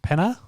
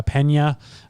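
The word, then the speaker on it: Peña: amanda nunes versus julianne penner pena pena oh there's meant to be in a yeah a little line the little thingy yeah that's why i couldn't say it right nice and classy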